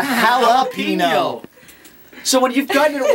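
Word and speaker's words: jalapeño: other a no there's it's not jino halpino Peppers it's a jalapeno so when you've gotten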